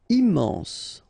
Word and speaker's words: immense: Immense. Final E not pronounced.